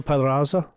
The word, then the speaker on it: Pedraza: Pedraza. Don't pronounce the D much. Pedraza.